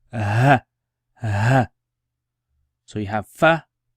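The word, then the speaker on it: ف: You can see the nail there, and it's fa. So finger, fa. Pronounce it with me. Fa, like F, fa, fa.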